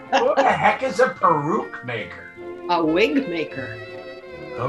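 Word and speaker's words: peruke: is impeccable how about baruch maker p-e-r-u-k-e i'll just go ahead and spell it for you baruch like like excuse me i have to go peru your answer kind of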